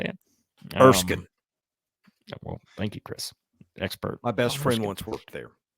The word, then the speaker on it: Erskine: Erskine.